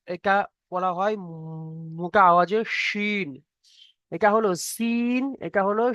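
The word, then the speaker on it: شين: এটা হালকা আওয়াজ সিন, এটা মোটা আওয়াজ শিন।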